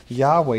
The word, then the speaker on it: Yahweh: also indicated that White's dub you should be pronounced Yahweh you know and I could go on I'll